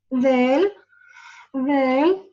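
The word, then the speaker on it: د: The tip of the tongue touches the edges of the two upper incisors. Del, del, for example, this is my tongue.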